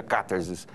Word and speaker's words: Katharsis: é cartazes né que foi colocado em grego mesmo por isso que pronuncia cartas que é proparoxítona agora com relação a